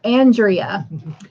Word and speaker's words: Andrea: Pronounce like Andrew, not Andrew. Got you. So Andrea.